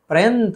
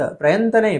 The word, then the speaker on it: प्रयत्न: प्रयंत, प्रयंत नहीं, प्रयत्न, त और न।